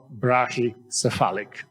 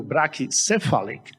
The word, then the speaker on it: brachycephalic: in the medical term we can pronounce it a different way so I will do brachicephalic I see that our president Thomas used brachi Catholic also it's correct if you do like people do brachycephalic some because spell in Spanish